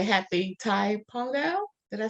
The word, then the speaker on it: Thai Pongal: I've been informed I want to say happy Thai Pongal did I say it right thank you very